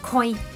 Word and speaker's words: 恋: Còn ví dụ như đứng một mình á, thì sẽ đọc là koi. Koi giống như trong cá koi vậy á.